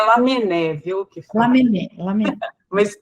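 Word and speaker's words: Lamennais: Lamenais, nosso guia espiritual, eu não sei se assim se pronuncia, encarrega... Tanto faz, mas é Lamené, viu?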